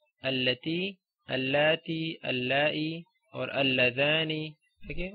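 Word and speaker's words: التي: Okay, so these words, okay, the words belonging to this family, like alladhi, alladhina, allati, allati, allai, or alladhani. Okay, words like that you always read with a fatha on hamzatul wasl.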